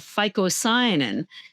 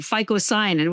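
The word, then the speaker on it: phycocyanin: Now there's a pigment in spirulina called ficoyanin and it has been proven to kill cancer cells.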